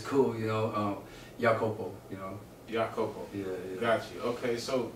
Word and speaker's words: Iakopo: but you was telling me that there's a greater way of pronouncing it. Yeah, so it's cool. Like Rihanna. Like either way, it's cool. Like it's a Samoan name, and it's spelled iAKOPO. So in English, people see it. They say iAKOPO, and it actually it's cool too because in Jamaica, they'll say